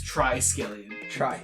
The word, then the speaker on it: Triskelion: First off, it's Triskelion. The one time I'm pretty confident in my pronouncing of the fake names, right? I fucking get it wrong.